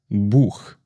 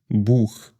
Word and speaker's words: Buch: Or we can also take the word Buch. Buch. This means book. So I would say CH has 2 sounds, much like the one in ich and the one in Buch.